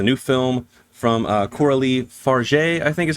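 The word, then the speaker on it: Fargeat: how you say it I literally was looking up her name and watching a couple other reviews to see how they pronounce her name and I heard four different ways to say it but she is French so I believe it is far uh and it is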